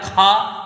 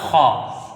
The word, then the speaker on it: خا: خا بنایا جاتا ہے۔ بہرحال اردو تلفظ سے اس کو بچانا ہے، کھا نہ پڑھ کے عربی تلفظ پڑھنا ہے خا۔ اب آئیے یہ تیسرا